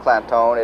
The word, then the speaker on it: Clanton: And while Clantone is pronounced Clantone, it is actually spelled C-L-A-N-T-O-N, but they put the emphasis on making it sound Clantone.